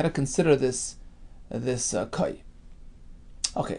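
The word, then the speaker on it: כוי: So we have a group of people who notice an animal, which was called Kai. Some pronounce it Kvi.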